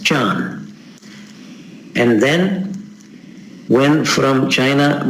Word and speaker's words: Chan: I should quickly mention here as a historical remark, when Buddhism went to China, Dhyan was not translated, but was just pronounced in a Chinese way as Chan.